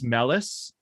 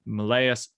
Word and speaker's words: Meleys: up seeing um that would most likely make this melis or malaya again pronunciations we're going to have to figure all that out i've always said that melees ooh that sounds nice that sounds nicer so let's go with that melees um reynos targary targaryen